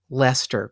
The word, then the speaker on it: Leicester: think maybe the word was chuffed that I pronounced Leicester correctly in England.